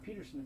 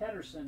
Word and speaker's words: Pettersson: It's not Peterson, it's Pettersson.